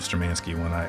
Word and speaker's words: Sturmanskie: I know I'm giving the American pronunciation of Sturmanskie when I talk about the watches. Even they don't correct us. They know that's how Americans tend to pronounce the name of the brand.